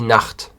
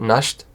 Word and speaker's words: Nacht: Please don't make the wrong pronunciation for the last one, because many people say Nacht. It's not Nacht, it's Nacht. Die Nacht. The CH is like a ch. Yeah, it's a very strong sound.